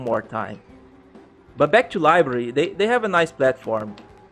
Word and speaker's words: LBRY: getting LBC credits ok it's spelled lb ry library but no it's what's the word for but when you talk it sounds like library library data yo yeah